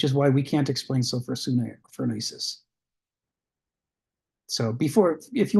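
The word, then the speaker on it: sophrosyne: Sophrosune?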